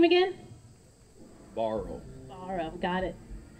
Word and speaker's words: Barrow: how do you say your last name again borrow borrow got it like your shirt he told